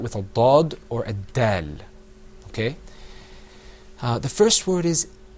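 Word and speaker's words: د: Dal.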